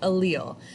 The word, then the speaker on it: allele: our first vocab word is allele that is pronounced allele so this is how we describe genetic traits